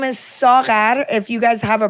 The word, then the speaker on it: Saghar: Her name is Sar. If you guys have a problem pronouncing the gh, she did say that some